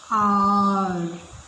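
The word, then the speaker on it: hour: This word is pronounced as R. Here also H is silent.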